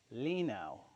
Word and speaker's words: Linow: I screwed up the pronunciation again. It appears to be Lake Lino.